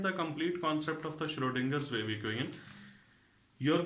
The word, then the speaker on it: Schrödinger: first of all learn to say it rightly Schrodinger Schrodinger's where we going and what is the